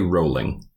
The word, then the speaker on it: Rowling: It took me a bit to research this, but JK's last name rhymes with bowling and not howling. J.K. Rowling.